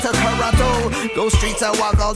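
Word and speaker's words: Toronto: Originally a Mohawk word pronounced Tarano.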